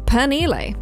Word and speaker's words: Penile: Penile is pronounced by locals as Penile.